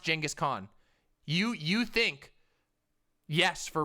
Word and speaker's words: Genghis Khan: go look it up it's genghis it's genghis khan it's pronounced genghis khan you you think yes